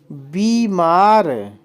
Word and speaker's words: बीमार: की मात्रा होती है बीमार बीमार बी मार बी में बड़ी की मात्रा होती है देर तक हम इसका उच्चारण करते हैं आगे देखिए आशीर्वाद आ